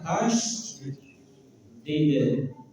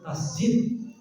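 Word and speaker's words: tasydid: Tas did. Tas jid apa? Saya ingat-ingat itu tasjid ya. Ada yang bilang tasjid kayak ngomong masjid gitu ya. Tapi yang benar tasdid semua tasdid boten awas ono tasjide gitu ya.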